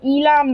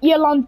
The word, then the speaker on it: Eland: And then this one has like an okayish English pronunciation, the Elam 90. How you would call it in Afrikaans is the Eland 90.